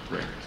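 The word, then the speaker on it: RECD: really existing capitalist democracy Rec CD for short pronounced rect so to begin with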